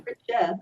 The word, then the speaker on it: Fritzsche: just want to say, I know I mispronounced your name. It's No, you didn't actually. You did just Fritzsche, fine. It's Fritzsche, Fritzsche. Yeah, it or was absolutely Fritzsche, or fine. Fritzsche.